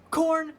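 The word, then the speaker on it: Khorne: So, you know, you say corn like the uh vegetable.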